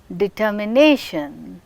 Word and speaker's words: determination: Now, you can observe determination, nation is marked with primary stress which is marked above, and determination, ter is receiving secondary stress.